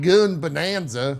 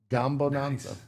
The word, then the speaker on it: Gambonanza: It's not Goon Bonanza. Rami is correct. It's Gambonanza.